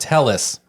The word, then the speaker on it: Telles: did have Robert Tellis and this is important Tellis his name was Tellis that's how he'd say